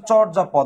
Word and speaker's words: চর্যাপদ: নিদর্শন লিখিত নিদর্শনের নাম কি বলতো নাম হচ্ছে চর্যাপদ নাম কি চর্যাপদ উচ্চারণটা হবে নাম হচ্ছে চর্যাপদ এবং চর্যাপদ পরীক্ষায়